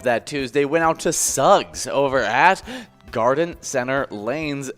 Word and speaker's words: Suggs: job suggs uh but if you want to announce it at suggs shugs yeah with an h like sugar oh yeah i guess i i just never think of uh yes yeah cause it's like slug with the you g yeah should no no no if it was slug it would be suggs yeah so i have